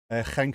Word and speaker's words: Genk: Even more confusing when you pronounce it correctly with the ch. It's what? Genk and Gent.